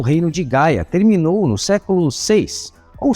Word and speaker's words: Gaya: histórica da transferência do karatê da Coreia para o Japão faz alusão ao nome do reino ou confederação de Gaia, que, como vimos, pode ser pronunciado também como Kara.